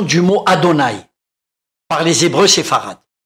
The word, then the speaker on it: Aton: par les Hébreux séfarades, ce n'est pas d'Aton qu'il s'agit, mais bien d'Adon. Il y a donc une erreur dans la transcription et dans la prononciation du dieu Aton, qui doit se lire et se prononcer Adon.